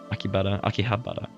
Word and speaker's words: Akihabara: Akihabara. I've always recognized the H, but I just never pronounced it.